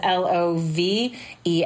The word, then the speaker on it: Love: pretty easy to find my last name as l.o.v.e lol rhymes with shovel love with two L's on